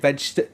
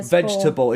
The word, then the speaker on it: vegetable: it into three like veget what how do you say it vegetable that's four yeah vegetable it should be three it should be three it should be vegetable uh I think say